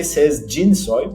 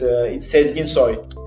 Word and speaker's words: Sezginsoy: So many people say Sezginsoy, but yeah, it's Sezginsoy.